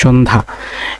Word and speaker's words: সন্ধ্যা: প্রমিত উচ্চারণের ব্যতীত, ব্যতীতের উচ্চারণ হবে বয়িকা তয় হস্যি তওকার, ব্যতীত। সন্ধ্যা, দন্ত তাহলে সৌকা দন্ত নয় হসন্ত ধয়াকার, সন্ধ্যা, এটিও সহজ মনে হয়েছে আমার কাছে।